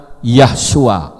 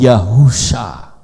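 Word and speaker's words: יהושע: Ayin saya bilang salah kalau Yod he waau Shin Ain itu bacanya bukan yahua tetapi yahusya kenapa Yod he itu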